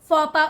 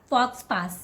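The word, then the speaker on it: faux pas: the correct way to say this word is fopa only for PA not fox pass this one don't call it fiancee okay not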